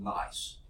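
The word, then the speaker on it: gneiss: Okay, the G is silent here. It's called nice.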